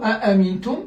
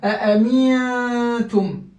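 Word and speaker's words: أأمنتم: Alors, dans le mot a'amintum, je retrouve un autre nun sakin. Ce nun sakin est suivi de ta. La lettre ta, c'est une lettre d'atténuation de l'irfa. Je vais faire la même chose que ici. Donc, je vais dire a'amintum. A'amintum.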